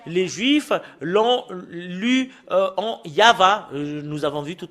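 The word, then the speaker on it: יהוה: voilà le tetragramme et le fait de le lire selon la Sainte Écriture hébreu c'est yava qu'on le prononce et vous pouvez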